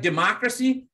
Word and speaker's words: democracy: Democracy has four syllables. The stress is falling on the second one.